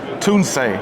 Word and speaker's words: Tunze: And I got to say, one of the most consistent things about the hobby has been Tuni. And I'm That's how you say it, folks.